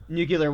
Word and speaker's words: nuclear: of nuclear energy and nuclear power and nuclear waste yeah a way to way to pronounce it the Homer way there nuclear it's pronounced nuclear um but yeah nuclear